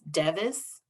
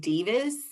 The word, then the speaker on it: Devis: it's a difficult name it is devis even if they said Davis would be much better but people always almost 100 of the time the first time they say my name want to say and need to say Davis and that's not the name and so when I